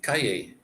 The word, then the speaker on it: calle: That is the word for street, calle. Like it's the two L's are a Y.